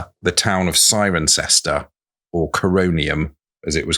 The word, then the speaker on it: Cirencester: Apart from the fact that it's spelled with C's that are pronounced as sir. Sirencester. Sirencester.